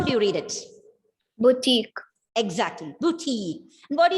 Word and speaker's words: boutique: Okay, not boutique, it's boutique. Very good, Angelia.